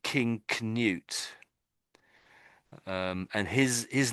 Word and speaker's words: Canute: So, it looks like Kut. His name is is basically this Kut, but I think I think we say canute.